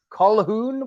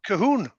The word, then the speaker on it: Colquhoun: was talking before we came on about the pronunciation of the name wormwood because I was going as in Calhoun what is it and your tool is a